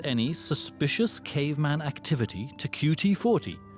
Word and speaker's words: QT40: It reads, please report any suspicious caveman activity to QT40, not pronounced cutie.